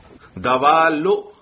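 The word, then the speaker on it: دوالّ: دوال یہ لام مشدد ہے اور یہ غیر منصرف ہے, اس لیے اس پر تنوین نہیں آئے گی بھائی.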